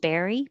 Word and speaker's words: berry: no difference between 31 barry bury and berry b-e-r-r-y and i put bear e because it sounds like the bear animal berry and 32 beard